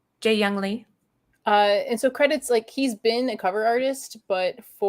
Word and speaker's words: Jeehyung Lee: Okay, so how do you say his name again? Because I always, in my head, I go JEEHYUNG Lee. That was good. JEEHYUNG Lee.